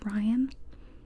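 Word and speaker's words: Raihn: orah and Rain well it's spelled r a i h n I found out it's supposed to be pronounced Ryan and I disagree with that I'm normally the kind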